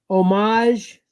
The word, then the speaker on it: homage: Homage. Homage. Or homage. So do you say the H or no? I don't.